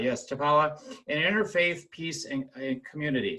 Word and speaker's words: Chapala: Here with the pronunciation. Namaste Lake Chapala. Chapala, yes, Chapala, an interfaith peace and community.